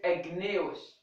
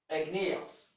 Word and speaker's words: igneous: said Magnus okay I didn't omit it I pronounced it here igneous okay igneous okay egg egg nice okay so it is